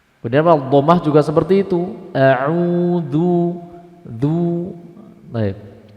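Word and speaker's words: أعوذ: Kemudian di dalam pengucapan dal di dalam isti'adah ada di antara poin kesalahan yaitu menarik mulut sehingga membentuk edu. Ini salah. Contoh ada yang membaca seperti ini, Pak. A'udzu, a'udzu, adzu. Ini salah.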